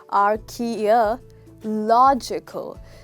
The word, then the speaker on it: archaeological: pronounce this right because this has got six syllables so it goes r key okay it's not k r k many of us say k but it's actually key our kia logical so this catch here